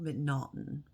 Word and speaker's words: M'Naghten: going to be about a guy named Daniel McNaughton and um monoton is how his name is spelled for the most part it's m apostrophe